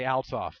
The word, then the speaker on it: Althoff: not know why but i struggle to say altoff that is the correct pronunciation but yeah we have the accepted pronunciation and the reason it